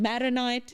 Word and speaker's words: Maronite: Maronite.